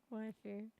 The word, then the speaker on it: waifu: Waifu. Wait, that looks like you're saying I had to double check that. It looks like you're saying YFU. Waifu. But that's how you say it.